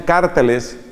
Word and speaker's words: cárteles: brutales entre los mismos carteles, otros pronuncian cárteles, entre los mismos cárteles de la droga.